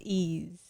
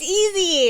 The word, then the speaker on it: EZ: for that I think it's ease no no what now you Chang your mind what the no it's easy it's easy so I researched and I saw his interview with boy abunda which is very famous um and said his name as easy all right the song